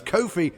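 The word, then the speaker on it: Ko-fi: a quidd on Kofi that's Kofi to rhyme with no fee as we learned recently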